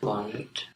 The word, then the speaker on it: luvannut: Why it's not lupannut? Why is it luvan? Luvata, lupaan, lupaamme. After have. So yes. So what form has the V? To be. Yes, the to form.